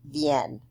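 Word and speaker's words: viennent: And then the il, elle, plural form, even though it's really long, remember, is just pronounced vienne.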